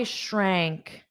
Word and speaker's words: shrank: So you have this this sh pronunciation sh. Imagine you're telling someone sh to be quiet, which is what we do in North America. Sh. And notice how your lips round out.